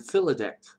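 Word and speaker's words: filidecht: with the bardic idea of sacred poetry and philidect, which is spelled F-I-L-I-D-E-C-H-T.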